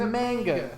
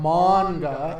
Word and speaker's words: manga: i don't know manga i said manga which is wrong i know that but manga is obviously right because that's how japanese people pronounce things but i'm not